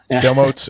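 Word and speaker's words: Domotz: How do you pronounce it? Domots? Domots. Domotes.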